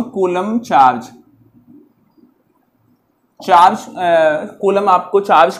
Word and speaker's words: Coulomb: मैंने स्पेलिंग शायद गलत लिख दी, COULOMB, कूलम, यह है चार्ज की यूनिट जो कैपिटल सी से डिनोट की जाती है।